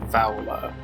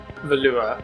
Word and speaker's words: Valua: we need to explore vowela or valua i suppose i really should start actually pronouncing it the way it's spelled see the problem is